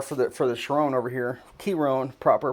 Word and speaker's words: Chiron: Chiron, proper pronunciation.